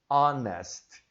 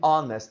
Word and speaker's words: honest: aqui olha só our honest é é a ser em roubou ela 105h mas você não vai pronunciar este h vai ficar apenas em nauer uma hora hein honest Man o homem honesto